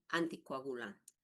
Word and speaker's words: anticoagulante: Fíjense, jóvenes, que no dice anticu, dice antico. Hay que memorizar, hay que pronunciar. Es doloroso escucharles. Ay, su anticoagulante, ya le di. Anticucho será. Antico, ¿no? Muy bien. Si en el examen me pone anticu, ya está mal, ¿no?